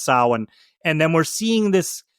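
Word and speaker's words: Samhain: We're reading Sam Hayne, but it's it's pronounced Sin.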